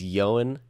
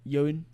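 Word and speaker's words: Ioan Gruffudd: How do you say it? I don't know. I think it's Yoan. Yoan.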